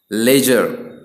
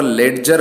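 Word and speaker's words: ledger: Budget, bridge, लेजर, ठीक है, यहाँ पर लेडजर नहीं पढ़ेंगे क्योंकि डी का प्रोनाउंसिएशन यहाँ पर नहीं होता है।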